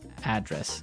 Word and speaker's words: address: live yeah and there the stress is on the first syllable address right perfect very good okay